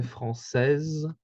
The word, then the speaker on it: française: So for example, for the français, française, we can hear that the E is mute. We can't hear the E, but we can hear the consonant S, which usually is pronounced as a Z, just like in English.